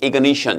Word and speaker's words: ignition: 요 단어는 동사 표현은 발음이 ignite하고 발음이 달라지니까 주의하세요. ignite 하게 되면 발화하다, 불을 붙이다가 되는 거고, 명사 형태는 ignition 이렇게 되니까요.